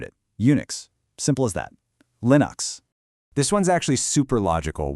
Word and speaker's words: Linux: It's pronounced Linux, with that short I sound, like in the word pin. He just combined his name, Linus, with the system that inspired it, Unix. Simple as that. Linux.